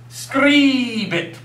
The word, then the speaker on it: scribit: Now, remember, A's are A's, E's are A's, and I's are E. Like in the English word, liter. Like a 2 liter of soda. E, E, E. So this would be pronounced as scribit.